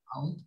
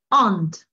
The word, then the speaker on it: aunt: Muchas veces pareciera, ¿no?, que se leería o se pronunciaría como aunt. My aunt, ¿no? Mi tía, pero de hecho es aunt. La U casi casi como que se junta con la A y hace una sola vocal, ¿no?